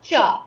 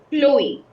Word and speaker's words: Chloe: Not cha. It's Chloe. Say it. Slowly. Yes. Chloe. Pronounce it like a K. Chloe. Chloe. Like we say club. Same way, Chloe.